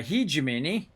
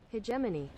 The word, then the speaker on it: hegemony: what we do unlocked at 2 000 uh he jamini he jamini hermione uh let's see how do you say that again let's go hegemony hegemony all right so uh 2000 hegemony oh